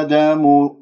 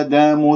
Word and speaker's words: آدم: مد جائز منفصل، ثم لديك في كلمة آدم ألف ساكن قبلها همزة مفتوحة، راح يكون عندك مد بدل مقدار حركتين، إذن راح يكون عندي مد جائز منفصل، حركتين من الطيبة، أربع خمسة من الشاطبية، ثم حركتين مد بدل، يا آدم، لاحظتم الآن كيف؟ ولا أقول يا آدم، لا تمل صوت الألف، خليك مرتاح، يا آدم